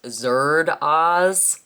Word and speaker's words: Zardoz: this movie you know that it should be pronounced Zer Oz and Tony didn't even pick up on that